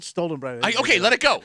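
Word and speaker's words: Stollen: it's actually actually called it's called stolen bread it's not spelled like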